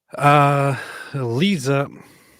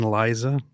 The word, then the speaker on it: Liza: So, Lisa. Okay, wait. You just said Lisa like Lisa Minnelli. Do you mean Liza?